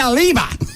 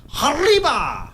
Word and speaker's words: arriba: It ain't Aliba. It is. No, it's not, Gavin. Well, yeah, but you're supposed to roll your R's about Arriba, that kind of thing.